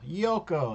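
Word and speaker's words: Giuoco: in the center this is the yoko piano yoko is how it's pronounced g-i-u-o yoko piano yoko means game piano means quiet so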